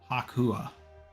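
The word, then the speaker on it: 白亜: Sed said that the kanji for the move means slide breaker, void breaker, shattering, but the pronunciation of it is hakua which syncs up with chalk or white wall.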